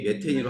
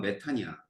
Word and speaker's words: 메탄: 미국이 메테인으로 하자. 영어로 이렇게 되거든. 근데 이 미국 애들이 바보야. 바보라서 이게 이제 독일어에서 온 거거든. 그러니까 독일어를 읽으면 메탄이야. 근데 이제 지네들은 메테인이라고 읽거든. 그러니까 우리끼리 바꾸는 거야.